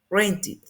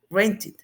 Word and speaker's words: rented: Esta ed la vamos a pronunciar como id, rented, rented.